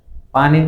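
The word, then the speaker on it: 笔: কলম, কলম, কলম হচ্ছে পি, পি, এই এটা হবে কিন্তু বি দিয়ে, আমরা শব্দটা বুঝতে হবে, মানে উচ্চারণ করবো পি দিয়ে, পি।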